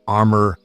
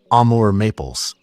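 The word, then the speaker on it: Amur maple: Here's one of my armor amore maples. Sorry, Amore maple. I said it wrong.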